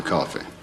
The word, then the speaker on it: Coffey: Your name is John Coffey. Yes, sir, boss. Like to drink, only not spelled the same.